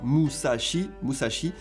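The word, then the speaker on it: 武蔵: Je me rappelle toujours parce qu'en japonais, on prononce ça Musashi, qui est l'ancien nom de la région de Tokyo.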